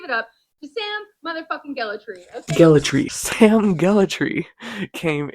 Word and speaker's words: Gellatry: How to pronounce Sam? Gellatry. Everyone, please give it up to Sam motherfucking Gellatry.